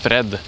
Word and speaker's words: Fred: but it's probably cool in Norway it's just Fred oh okay you just turn around the r to R say R scream it